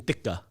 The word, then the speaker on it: tikka: Because tikka, well, actually, the Asian way of pronouncing it is chicken tikka.